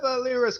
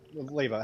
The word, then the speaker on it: Leiva: We still have Lyra's coffin below deck. What should we do with that? Lyra? You mean Leiva? Yeah, Leiva, however the fuck you pronounce it. Leiva. There's a V in there.